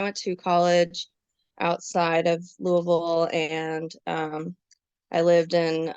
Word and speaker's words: Louisville: local or not because locals will say Louisville like this really weird um you know not well pronounced or enunciated version of the name yeah I think that's you know French and I think it's supposed to be Louisville which is I think